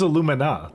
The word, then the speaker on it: alumina: we're good aluminum no it says alumina that's what it is alumina alumina alumina pronunciation oops no I